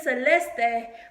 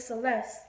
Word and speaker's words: Celesté: struggle where I proclaim my name is Celeste day but you protest with Celeste one time a white